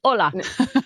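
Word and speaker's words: olá: They just spell it differently. Spanish people, Mexican, they put an H in front of it. The Portuguese goes, "No, it's ola."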